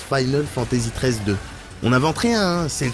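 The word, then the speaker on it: Final Fantasy XIII-2: dire en RPG bah apparemment ça se prononce Final Fantasy 13 2 on invente rien c'est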